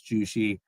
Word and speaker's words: Jushi: Plus, it's fun to say when people don't know how to pronounce JUSHI. You just say it's sushi with a J, and people get it.